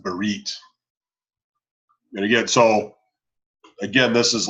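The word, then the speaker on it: ברית: It's pronounced with the th in the end. I never noticed. No? Not in our liturgy. But like there's a Hebrew organization called B'nai Berith. And Right. it's not Berit.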